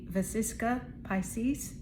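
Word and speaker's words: vesica piscis: And this card is the Vasisa Pisces and that is spelled V E S I C A P I S C I S.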